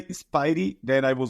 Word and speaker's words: Spiady: Everyone to talk to me about my name, and normally it's Spidey, but Spidey. Okay. yeah, it's Spidey.